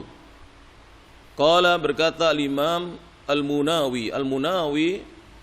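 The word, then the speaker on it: المناوي: kolom berkat al-imam al-munawi al-munawi ini bukan Nawawi Hai Sebagian ulama dengan bacanya Al manawi alakulihal bukan an-nawawi kalau an-nawawi beliau dari noah danau itu di Syam kalau al-munawi itu dari Mesir beliau jadi berbeda Hai jadi jangan sampai kita salah baca hole Munawir rahimahullahu berkata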